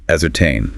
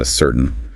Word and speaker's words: ascertain: It's a ascertain, not assertain.